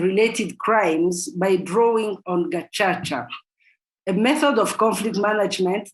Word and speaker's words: Gacaca: Tracing the revival and practices of Gacaca, because in Kinyarwanda, which is the language spoken by Rwandans, C is pronounced like in Italian, Chacha. So tracing the revival and practices of Gacaca in post-genocide Rwanda.